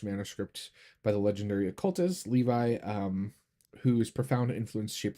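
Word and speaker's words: Lévi: Um, by uh, Elephice Levy or Levi. Well, I go by Levi. That's that's how I was taught to pronounce his name.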